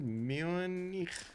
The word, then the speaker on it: Munich: Munich. Okay, that was the correct pronunciation, right?